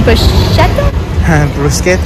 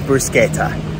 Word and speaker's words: bruschetta: eat at pizza chiro this is the bashetto i don't know not sure i'm gonna ask him how to pronounce it okay so we asked the guy how to pronounce it and it is bruschetta okay anyway go ahead